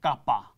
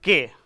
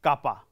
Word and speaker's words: kappa: letter this is called kappa k a ppa this is not called k this is kappa this is pronounced as kappa kappa stands for spec